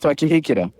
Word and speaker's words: Twakihikira: It's pronounced Twakihikira.